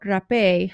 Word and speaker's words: rapé: where we talk about rapé. So rapé is this pulverized tree tobacco, and rapé is the Spanish word for it. And it is spelled like rape, but it just has the E accent at the end.